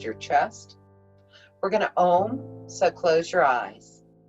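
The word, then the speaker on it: Om: chest we're going to ohm so close your eyes we're going to pronounce it a um and find a deep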